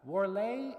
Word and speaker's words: Warlé: studded with tiny gold bugs and Q magazine pronounced that wlay is Tiny But neat no jumble shop this